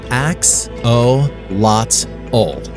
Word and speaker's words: axolotl: one don't worry we'll help you pronounce it phonetically it's ax o lot old auto means water and gelato means dog after